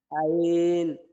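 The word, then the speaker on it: عين: আইন হা আইন হা একই মাখরাজ মধ্যগলা থেকে হবে মধ্যগলা থেকে হবে আইন হাকম এখানে হবে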